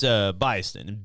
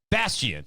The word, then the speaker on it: Bastion: It's Byston. Baiston. I don't think that's how you say it, but no, BIAST. Stop. You sound retarded. I am, yeah. Well, that's Bison. That's Bastion.